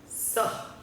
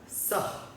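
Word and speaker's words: सः: तो उसका उच्चारण ऐसे होता है सह, है ना। आप एक हकार अपने मुंह से छोड़ रहे हैं, ह हवा छोड़ रहे हैं, सह।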